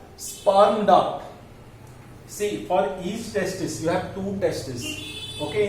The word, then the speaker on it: testis: Okay, testis plural है, singular है, testis. Okay, testi भी बोलते हैं उसको, testi. बट स्पेलिंग में एस होता है लास्ट, एस साइलेंट है.